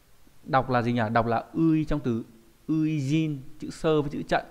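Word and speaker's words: 初陣: Đọc là ui trong từ uijin, chữ sơ với chữ trận có nghĩa là trận đầu tiên.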